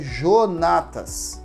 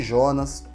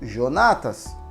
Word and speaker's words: Jonatas: nome dela por exemplo meu nome é Jonatas o que tem de pessoas que me chama de Jonas de onde Jonathan mas o meu nome é Jonatas o nome da pessoa